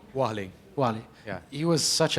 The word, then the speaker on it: Warlley: Alves, how do you pronounce his first name? Warlley? Warlley.